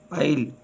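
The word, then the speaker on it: aisle: वाला हरूफ एस आवाज नहीं देता जैसे eyelet आइल silent T टी इज not pronounce in this common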